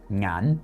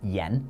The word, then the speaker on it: 眼: The word for eyes in Cantonese is ngan, and that same character is pronounced yen in Mandarin, but they add another character behind it for the word for eyes.